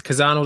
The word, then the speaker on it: Chazzano: It's Chazzano, the coffee roasters. Yes. I pronounced that right, didn't I? You definitely did. People usually pronounce the CH, right? CH like Bach.